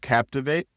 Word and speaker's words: Captiv8: Publicis made a $150 million acquisition of Captivate. It's spelled Captiv8.